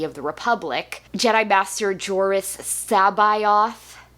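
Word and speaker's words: Jorus C'baoth: the Republic Jedi Master joris sabayoth which it's not a pronunciation I would have guessed looking at that name but that's how Zod says it so okay talks to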